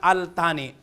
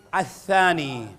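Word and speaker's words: الثاني: Kahit sa mga, yung mali ang pronunciation na Al-Thani. Ang correct ay Athani.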